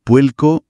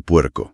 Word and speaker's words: puerco: En Puerto Rico, por ejemplo, es muy común que la R al final de sílaba suene como una L. Dicen puelco en vez de puerco.